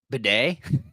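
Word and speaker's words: Badie: other running backs or wide receivers mlin uh Beday did you hear that that is correct pronun pronunciation for Tyler b a d i e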